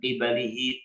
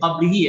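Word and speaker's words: قِبَلِهِ: Wa ayyadaha tawatur anbiya'i war rusuli min qibalihi ta'ala. Bukan min qablihi ya bacanya ya.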